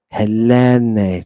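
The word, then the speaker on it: Ἑλένη: Look at Helene. Helene. Notice that I'm putting the extra emphasis on the accented epsilon. That just means I'm drawing it out.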